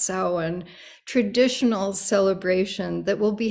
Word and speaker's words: Samhain: scotland and ireland would have celebrated is called sauwan a pagan religious festival originating from an ancient celtic spiritual tradition on tuesday i hope that you join the salon it's looks like samhain but it's pronounced samhain traditional celebration that will be happening at our